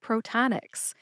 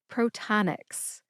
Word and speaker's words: Protonix: So, what you do is you have first syllable is pro like proton. The second syllable does not have the n in it, believe it or not. It's ta like t a h t. And the third syllable is Nyx, which is spelled N IIX, but it sounds like the basketball team, the New York Knicks. Put all three syllables together and you get protonics. Emphasize ta.